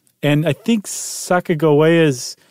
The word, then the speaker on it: Sacagawea: And they think that it was a hard G, so that it's Sacagawea, not Sacagawea. So they said it's definitely GIF and not GIF.